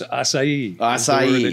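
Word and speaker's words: açaí: so I'm going to follow you so it's asai you're looking for and that's a berry it's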